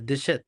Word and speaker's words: déchets: তাহলে এটা হচ্ছে je réduirai হ্যাঁ, les waste কি বলে déchets, দেশে, হ্যাঁ, ওই যে লেখা আছে উপরে এখন। les দেশে, déchets দেশে, les দেশের না déchets বেসিক্যালি ওটা দেশে, হ্যাঁ, টি সাইলেন্ট।